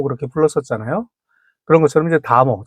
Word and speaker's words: 다모: 근데 이제 다모라고 할 때는 이제 그 다자로 발음이 되는데요.